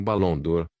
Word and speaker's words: Barão d'Or: Meu nome é Barão d'Or, pronuncia-se como Balão d'Or, e este é meu filho e minha nora, Ferdinand e Cherry.